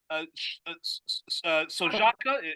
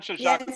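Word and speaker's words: Șoșoacă: far-right uh candidate in Romania uh called Diana Sojaka, am I pronouncing your name correctly? Hello. Oh. Uh can you hear me now? Sharka. Yes. Yes. Okay. So Diane Shaka.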